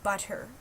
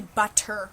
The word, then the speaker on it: butter: that with the word butter we don't say butter we say butter it's two DS instead of two T's that's the way we pronounce it even though we spell